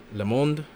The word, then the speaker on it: Le Monde: Le Monde. Yeah, so someone tell me how to pronounce that. So it's Le Monde, because in Spanish, mundo is world.